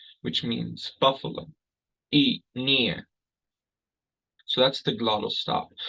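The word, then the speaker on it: iinii: of hear that pause between e and mean e knee which means Buffalo e near so that's the glottal stop we also see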